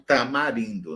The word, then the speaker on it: tamarindo: Ou tamarindo, né? Eu pronuncio tamarindo. Então, esse A aí pode ser nasal.